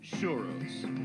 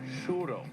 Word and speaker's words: XOORO: Spanish fritters have become shuros do you know how to pronounce this it's actually shuroo churo shuro churo as in I'm sure and one thing